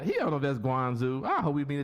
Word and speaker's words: Guangzhou: He don't know if that's Guangzhou. I hope we meet a Chinese. It is pronounced Guangzhou.